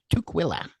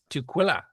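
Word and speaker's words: Tukwila: Um, and that's coming back May 2nd to 3rd at the Tquila Community Center in Tuila, Washington. Am I pronouncing that right, Mark? Nope. Tquila is how I pronounced. Tquila.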